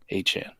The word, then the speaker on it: Achane: Achane is officially the pronunciation, right? Listen, when you go for a 50 burger, I guess you can just call yourself whatever the fuck you want. Well, I'm actually trying to get it correct. Is it Achane? Is that official? Achane. Yeah, I guess that's the pronunciation.